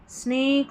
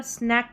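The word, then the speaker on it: snack: यहाँ पर स्नैक करके, इसको स्नेक नहीं पढ़ना है, इसको स्नैक पढ़ना, स्नैक। ठीक है, इसका उच्चारण सही कर लें, स्नैक। यहाँ अगर लास्ट में ई रहता ना तो स्नेक पढ़ते हैं, यहाँ पर लास्ट में ई नहीं है, सी के क, तो स्नैक, स्नैक, स्नेक और स्नैक, फ़र्क है इनमें।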